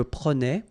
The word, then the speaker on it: prenais: Je prenais, tu prenais, il prenait, final T not pronounced.